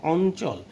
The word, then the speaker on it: অঞ্চল: যেরকম সেরকম মিও, মিয়া, কিন্তু যখন চ, ছ, জ, ঝয়ের সাথে যুক্ত হয় তখন তার উচ্চারণ হয়ে যায় দন্তন্বয়ের মতন। যেমন অঞ্চল, যুক্ত হয়েছে কার সাথে? চয়ের সাথে, তাহলে তখন ইয়ের উচ্চারণ হয়ে যাবে দন্তন্বয়ের মতো।